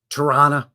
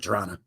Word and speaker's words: Toronto: today we're focusing on toron or Toronto if you will but most Canadians pronounce it Toronto up here in Canada